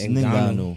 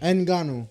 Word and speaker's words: Ngannou: Oh, the N is silent, or is it N silent? I think it's It's Ngannou. Ninganu.